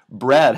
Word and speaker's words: bread: Bread has an E and an A in it, but it's pronounced bread with that eh sound, so you're going to associate it with this eh symbol.